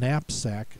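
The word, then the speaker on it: knapsack: haversack ruck sack and napsack and make sure you get the silent k at the beginning of that word they all end their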